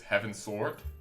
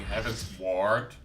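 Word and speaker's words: Heavensward: also found it funny the way he says heaven sword instead of going heaven's ward like towards heaven which is clearly the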